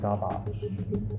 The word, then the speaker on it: Garbáge: now it's tonic garbage it's spelt garbage but pronounced garbage so it's like taking trash and making elegance